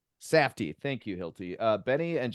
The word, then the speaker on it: Safdie: I don't know how to pronounce these guys' names. It's Safety? Safdie. Safdie.